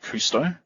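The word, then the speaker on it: Kusto: the so these these queries use the anonymous pronounce this but it's called cousteau kay you sto or I believe it's also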